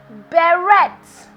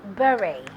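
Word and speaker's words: beret: it's commonly mispronounced has bare Reds but it is actually very the T is silent and this is the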